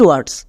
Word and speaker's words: were: Next site words WERE, এর উচ্চারণটা কি হবে? এখানে দেখো WE vowel blending word, sound দেই ওয়ে, তাহলে আমরা এর জন্য বসিয়ে দিলাম ওয়ে। এবার চলে আসো একদম শেষে, এখানে ERE আছে, ERE একত্রে উচ্চারণ দেই আর, তাহলে কি হলো? ওয়ে প্লাস আর, ওয়ার। আমরা এর জন্য উচ্চারণ করব ওয়ার।